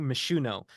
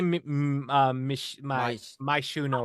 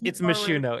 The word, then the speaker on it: Myshuno: I'm surprised you didn't correct me by saying Myshuno, because like I always say my Shuno or something like that. I actually just thought I was saying it wrong. No, it's Myshuno. It's technically Myshuno.